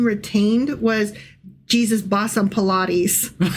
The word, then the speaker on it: Pilate: So it's going to be really hard for me to like No, Pilate, Pilate, Pilate. Not Pilates.